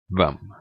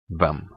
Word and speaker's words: hvem: Finally, silent H in words starting with HV. This you will meet a lot, because the Norwegian question words is starting with HV. The Norwegian question words, that's equivalent of the English WH. So these words would then be pronounced hva, hvor, hvem, which means what, where, and who.